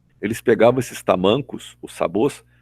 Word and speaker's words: sabot: Sabor é S-A-B-O-T, sabot. A gente não pronuncia o T, é mudo, tá?